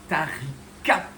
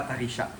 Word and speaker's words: Taricha: Et bien c'est bien Tarik et non pas Taricha. Tarik parce que Tarik ça veut dire momi par rapport à l'aspect un petit peu desséché du corps de ce triton.